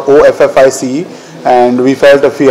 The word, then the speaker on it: Awfis: office right so uh awf is the pronunciation for office and we felt if